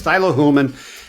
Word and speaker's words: Thilo Huelmmann: never get the um outs correct but it's Tylo hulman and he'll teach you how to pronounce it it'll just take you an hour